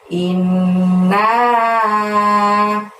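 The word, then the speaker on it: إنّا: ke-1 dimulai dengan lafaz inna. Nah, innya ditahan dan ditekan selama 2 harokat ya, karena ada nun tasydid di situ. Kemudian naknya panjangnya 5. Nah, seperti itu. Jadi membacanya inna.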